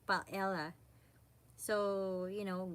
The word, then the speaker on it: paella: P it's you know we Filipinos or we usually say pelia we pronounce it but you know in Spain they call it paella so you know G